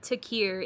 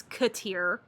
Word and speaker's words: Katir: It's not Takir, it's Katir. Okay, his last name's Katir.